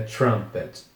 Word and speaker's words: trumpet: t significa trompete e cuidado também que esse U tem som de a nasalada também então é trumpet trumpet e a próxima palavra